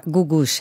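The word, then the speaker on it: Googoosh: Wie wird die Gruppe oder der Interpret ausgesprochen? Das ist eine Frau, und zwar Gugusch heißt die.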